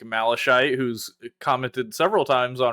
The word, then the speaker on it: malachite: It is malachite. Oh. The unintentional diss. I've always said Malachite. I know that word from World of Warcraft. So I used Is that that how I they all pronounce him? Wow. I don't know. That's just how I pronounced it when I read it.